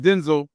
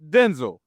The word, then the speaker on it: Denzel: The man said his name is pronounced Denzel, not Denzel. He said his mama called him Denzel. And if you look at, I'm sure not everybody, but a lot of people been to school, break them syllables down. D-E-N is Den. Zul is Z-E-L, Denzel. But you better gonna put that Hollywood flavor on there, it's Denzel.